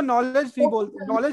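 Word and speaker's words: knowledge: तो फिर हम उसको नॉलेज बोलते हैं, के को नहीं प्रोनाउंस करते ना, ऐसा होता है.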